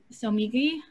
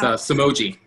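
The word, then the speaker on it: Somogyi: We have design duo Somigi, I'm gonna pronounce that. Philip, please. It's Somogi.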